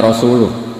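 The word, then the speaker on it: رسوله: Allah itu terbebas, gak urusan dengan orang musyrik, wa rasulih juga gak ngurus Rasulnya. Kalau sama Rasul saja tidak ngurus apalagi sama kita. Terus sama Sayyidina Ali dibenarkan, yang benar bacanya itu wa rasuluh, Allah bari minal musyrikin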